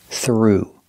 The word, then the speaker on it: threw: throw in the past threw making the long ooh sound through example he threw the